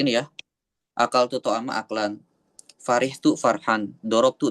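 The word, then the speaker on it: أَكْلًا: Akal ta'ama akalan. Maf'ul mutlak. Akalan atau aklan dibacanya? Aklan Ustaz, aklan. Aklan, oke.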